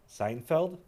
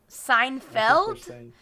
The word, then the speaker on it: Seinfeld: happy with your pronunciation how is it pronounced seinfeld seinfeld is there not is